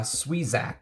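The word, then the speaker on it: Sieuzac: year um jean luis uh sweezak i believe is how you pronounce his name is the that's the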